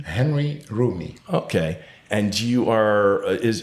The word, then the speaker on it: Henri Roumi: um how do you say your full name Henry roomy okay and you are is because it's not